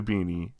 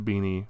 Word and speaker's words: BINI: are finally returning to beanie I know that that's uh I think it's pronounced beanie uh that's what I